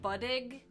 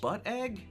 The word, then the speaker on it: Buddig: Is it the Buddig turkey sandwich? Because that is a cheap turkey sandwich. Butt egg? Buddig. It's spelled Buddig.